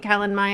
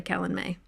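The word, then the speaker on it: Calanmai: then forgot i think i call it calan maya and i remember that i say it wrong so therefore it's probably kellen may but i'm still gonna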